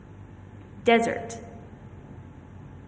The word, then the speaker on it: desert: Desert. This means a hot, dry place. But if I put the primary stress on the second syllable, it is dessert, which means a sweet dish served after dinner.